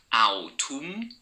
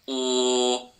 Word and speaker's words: autumn: It's not pronounced autumn. This word is autumn.